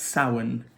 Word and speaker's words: Samhain: was something else and apparently it was pronounced soin which is Halloween for the witchy world but to look at it you were to read it actually says Samhain Samhain it's actually looks like however it's not that one